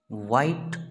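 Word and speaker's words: white: दे दिन नाइट रात व्हाइट सफेद बच्चों यह साइलेंट होता है व्हाइट सफेद ब्लैक कला इजी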